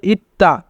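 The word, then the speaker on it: 있다: যদি তবাচ্চিম থাকে এবং তারপরে দ্বিগুণ থাকে তবে দ্বিগুতের উচ্চারণ তয়ের মতো হয়, তাই এখানে উচ্চারণ হবে ইত্তা।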